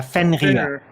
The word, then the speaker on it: Fenrir: you say his name or her name yeah fenrir it's german fenney what i was talking about uh ragnarok it's the wolf of ragnarok it's called fenrir fenrir the wolf that causes ragnarok cool well